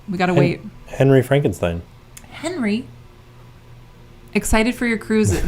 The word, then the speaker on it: Frankenstein: Ah, actually, it's pronounced Frankenstein.